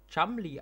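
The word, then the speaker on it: Cholmondeley: in die Luft flog schmeli wird chumli ausgesprochen ah stimmt so hieß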